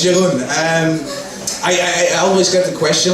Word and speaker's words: Jeroen: So, my name is Jeroen, or as people from Portugal like to pronounce it, No, my name is Jeroen. And then I go into this conversation like, Jeroen, heroin. Yes, my name is Heroin. Come on, no, it's Jeroen.